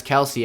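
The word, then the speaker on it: Kelce: this time i'm going to keep saying kelsey because i think that sounds way cooler and he said he goes by both names obviously well he actually said that kelsey uh he accepts as his nickname so weird little interesting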